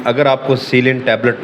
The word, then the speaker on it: Celin: ऊपर देख रहे हैं इसको उर्फ में सलीन बोला जाता है जो कि गलत प्रोनाउंसिएशन है ये है सीलिन ये जो सीलिन 500